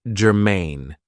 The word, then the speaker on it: germane: So, the first adjective I have for you is germane. Now, this is 2 syllables, and the stress is on the second syllable, germane.